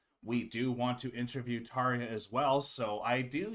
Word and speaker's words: Tarja: me oh of course tarja tarja are we just the one saying it wrong or was that a Butch no I think he butchered it I'm pretty sure it is tarya yeah we know tarja